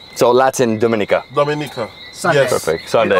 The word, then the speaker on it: Dominica: So from my understanding, he called it Dominica. Yes. Because in Latin, it was discovered on a Sunday. On a Sunday. So in Spanish it's Domingo, in Italian it's Dominica. Right. So Latin Dominica.